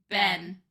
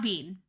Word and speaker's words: been: Ben oh okay good it's not Bean we have not been anywhere we're Bean or or Ben B that's what it should be really right Ben no we say Ben b n like the person yeah but it's b e e n it's b e e n too many e sounds Bean if you were reading it but you've been